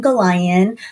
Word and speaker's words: Gollayan: having me and uh saying my name correctly pronouncing my name correctly uh yes Goan uh currently I am a program manager in